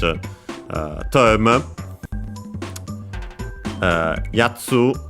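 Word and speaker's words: やつ: Uh yatsu uh is accented by the way on the first syllable.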